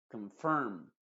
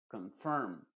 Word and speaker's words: confirm: Y en verbos que empiezan con la palabra con, por regla general, esa primera O se va a pronunciar como una schwa. Es decir, se va a decir contribute. contribute, confirm, confirm. ¿Te fijas que no estoy diciendo contribute ni confirm, sino contribute, confirm, control, confront?